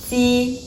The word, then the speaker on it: ji: Ji, ji, ji. You can see the air is really light. It doesn't have a burst of air coming out.